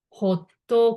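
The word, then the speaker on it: ホット: So English hot, but in Japanese, ホット、ホット.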